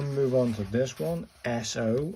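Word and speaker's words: そ: And then we'll move on to this one, SO. It's got 2 strokes, 1 little thing there and 2. Pronounced like the SO in soy.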